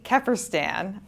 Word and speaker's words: Kefferstan: And this week we have Maddie Keerstan, whose name I think I pronounced correctly.